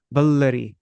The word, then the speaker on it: Vallarī: And so then the double L, whenever you see a word doubled like that, then you pronounce the syllable before it very shortly. Like you say Vallarī.